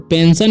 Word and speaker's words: pension: ठीक है, यहाँ पर लिखा हुआ है PENSION, तो पेंशन इसे पढ़ते हैं। ठीक है, तो इसका उच्चारण स क्यों होता है, क्योंकि यहाँ पर क्या आया ION एस के बाद।